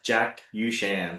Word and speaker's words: Jackuchan: So, my name is uh Jackan. It's like Jackie Shan with the U.